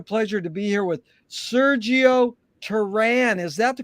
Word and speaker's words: Sergio Teran: honor and a pleasure to be here with sergio taran is that the correct way to pronounce it it is in the states jerry